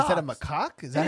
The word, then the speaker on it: macaque: Oh, they're macaques. Is that a macaque?